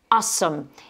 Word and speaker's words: awesome: Donc là, vous avez, on l'écrit A-W-E-S-O-M-E, mais vous avez le W qui est muet et on insiste bien sur la première syllabe.